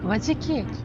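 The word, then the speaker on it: 和食: Mặc dù được viết là đồ ăn Nhật Bản nhưng tên của nhà ga này lại được phát âm là Ga Wajiki.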